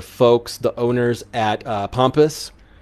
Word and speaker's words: Pampas: the owners at uh pompous pampas pompous i want to make sure i pronounce it right i believe it's pompous they are p-a-m-p-a-s uh they're wonderful folks